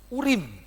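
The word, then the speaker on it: אורים: Yang putih itu namanya, lihat ya, Alef, Res, Yod, sama Mem. Urim, itu bacanya begitu ya. Memang enggak ada vokalnya di situ.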